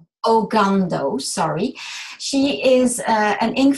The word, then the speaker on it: Ogando: Sorry, how do I pronounce her name? Ogando, sorry.